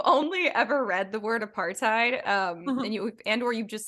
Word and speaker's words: apartheid: times because I never say it out loud apartheid that's horrifying I'm really sorry but for people